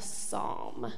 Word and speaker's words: Psalm: the book of Psalms that's spelled p s a l m have you heard that before do you know what a Psalm what does that kind of sound like psalm it sounds kind of